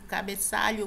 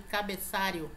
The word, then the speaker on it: cabeçalho: incorretamente é cabeçalho ou eu já fiz o cabeçalho professora nada de cabeçario bandeja não existe esse aqui de bandeja né